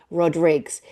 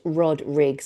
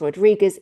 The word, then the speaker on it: Rodriguez: Again, look him up, Tony Rodriguez. It's pronounced Rodriguez, even though it looks like it's pronounced Rodriguez. It is Rodriguez.